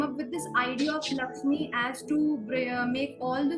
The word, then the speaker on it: LXME: co-founder of Lakshmi and we pronounce it Lakshmi the spelling is lxme so it is the